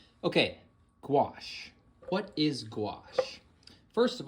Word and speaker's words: gouache: It's very similar to watercolor, and it is called gouache. Okay, gouache. What is gouache? First of all, this is how gouache is spelled.